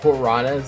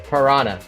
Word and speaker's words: piranha: Annoyment is written the same way it's in PTBR, but it's spelled piranhas in English. Piranha, not piranha. Unless you want to call it like a cat.